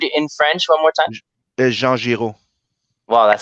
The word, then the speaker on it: Jean Giraud: Jean Giraud.